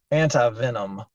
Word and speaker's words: anti-venom: Some people will recommend giving anti-venom or anti-venin. You can pronounce it either way.